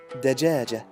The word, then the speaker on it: دجاجة: is ja, and then the ta al-marbuta here doesn't have any vowel, so we're gonna pronounce it like a ha, which makes ha, which means dajaja.